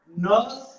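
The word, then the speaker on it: Nernst: एंड अब इस chapter का सबसे शानदार टॉपिक आ रहा है, फर्स्ट डेरिवेशन है नर्स equation. N is silent, it इज नर्स equation provided by scientist Nurse and he was nominated for Nobel Prize।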